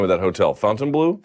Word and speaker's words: Fontainebleau: By the way, how do you properly pronounce the name of that hotel? Fontainebleau? Fontainebleau, yeah.